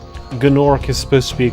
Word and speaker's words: Gnorc: I was going to say you don't pronounce the gna in gnome.